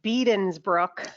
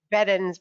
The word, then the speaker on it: Bedens Brook: the stakeholders mentioned that it was pronounced beeden's brook and we've continually said it wrong so we apologize to everyone we we always think beddins because there's only one e in there so sorry to everyone that we keep saying edensbrook incorrectly well i i'm very